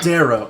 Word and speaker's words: Darrow: But as I was saying, by the way, it's pronounced Darrow. Darrow.